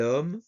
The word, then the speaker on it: homme: a vowel, étudiant or homme. Now, homme literally has an H at the beginning, but the H is silent, so it starts with the sound of the vowel.